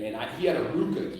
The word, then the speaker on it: RVCA: I he had a Ruka G RV it looks like RBC pronounced Ruka yeah and as soon